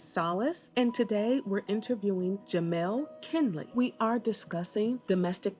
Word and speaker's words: Jamaal: who I am uh most of the time when people meet me they say my name wrong is Jamal and it's Jamel so we'll we'll start